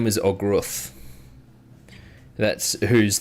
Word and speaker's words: Ogruth: He was, with a 15, you wouldn't know too much about him per se, but like you know that Ogruth, which is spelled OghrUth, is kind of the lead suspect in kind of the public's mind.